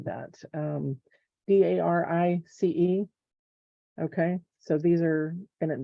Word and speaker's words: Darice: I had bought them from, is it Darcy, or how do you say that? Darice.